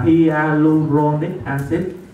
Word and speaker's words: hyaluronic acid: Dạ, đọc là hyaluronic acid.